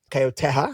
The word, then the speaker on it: Caio Terra: I just had an interview with Caio Terra, Caio Terra, if you're pronouncing his name in Portuguese, and he was actually just talking about this.